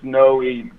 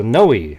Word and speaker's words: Noe: it's uh it's Noe the best the best way I can uh describe it as if you can pronounce the name Zoe just take that Z and turn it around and make it an end yeah well we all